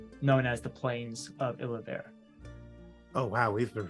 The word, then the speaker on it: Illavare: is the location known as the Plains of Illavare. Oh, wow, we've been pronouncing it so wrong. Yeah, Illavare. Illavare. Illavare. Illavare. Illavare. Okay. I know, I said Ilnavar when I was telling Drew about it earlier